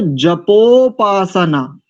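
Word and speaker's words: जपोपासना: छेद में बोलिए या तो संधि में बोलिए संधि में बोलेंगे तो जपो पासना जपो पास नाद पासना नहीं जपो पासना नहीं पास पासना पासना द एक एक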